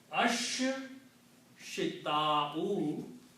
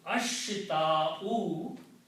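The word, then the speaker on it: الشتاء: Also, sheen and swad both are shamsi letters and they kill the sound of lam and make them pronounced twice with the shadda. So this will be pronounced as ash shita'u and this will be pronounced as saifu.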